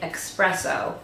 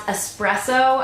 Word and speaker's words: espresso: it's in the shade expresso and no I am NOT one of the people who pronounce espresso as expresso but that's literally how